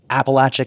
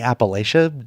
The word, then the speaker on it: Appalachia: I felt like a lot of people were getting angry about the pronunciation. And I think a lot of folks who say Appalachia aren't necessarily being dismissive. That's just the way they've heard it.